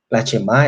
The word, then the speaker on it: Shema: Bueno, aquí se encuentra en hebreo la Shema, ese oye, ¿sí?